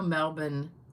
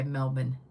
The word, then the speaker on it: Melbourne: Oh, Cheryl, they do pronounce the R in Florida. Okay. I know. I know. Melbourne, Australia. They don't say the R. They just say Melbourne.